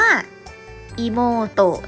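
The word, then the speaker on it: いもうと: อัด ๆ นะ คะ น้อง สาว อ่าน ว่า อี โม โตะ นะ คะ อิโมโตะ อี โม โตะ นะ น้อง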